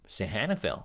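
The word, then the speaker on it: Sihanoukville: do I properly pronounce this um sorry pronunciation sahanicville oh sorry all right one more time sahanville okay I was actually butchering the pronunciation sorry about Sahanicville.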